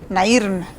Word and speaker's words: Nairn: Nairn. En Spanish, Nairn. Sí. O Nairn. Ok, en English, Nairn.